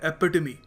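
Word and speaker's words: epitome: इसको प्रोनाउंस करने का सही तरीका है एपिटमी। ई पी आई टी ओ एम ई एपिटमी noun है।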